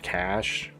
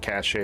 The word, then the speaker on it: cache: By the way, I know it's pronounced cash. I say it that way sometimes, but I think cashache is just a fun way to say it.